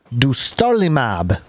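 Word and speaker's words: dostarlimab: i'll do my best dostar limab du starlimab d-o-s-t-a-r-l-i-m-a-b kind of like do star lima b i don't know okay you're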